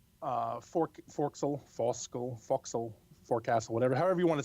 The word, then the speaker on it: forecastle: Fork Sol fosco foxhole forecastle whatever however you want to say it foxhole that well it's the name instead they spell it forecast but it's called foxhole front right quarter panel